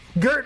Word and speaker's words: Gert: Wait, it's pronounced Jert. Yes, it is pronounced Jert. Oh, you're yeah. Gert also works, but yeah, you see Jertris in chat.